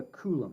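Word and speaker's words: Coulomb: in something called a kulum and kulum is spelled weird it's Mr kulum who kind of came up c l m b and the charge of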